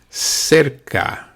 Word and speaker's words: cerca: Cerca. Cerca. Cerca is close. Now, if you see, the C at the beginning of the word is pronounced like a S, se. But the second C is pronounced K.